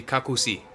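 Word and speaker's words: како си: say Stovall and how are you would be kaku see so there's a bunch of words for you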